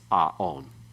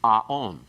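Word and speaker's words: עָוֹן: We have eon, not aon. The reason for that is that this word normally is aon. The actual form you'll learn for vocabulary is aon, iniquity, guilt.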